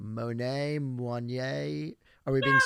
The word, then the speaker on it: Moinet: so first question before I introduce you: correct pronunciation of your last name, Monet, Moignet. Are we being Yeah, super French? How are we going? yeah, my dad, it's Monet, like the painter, but I think if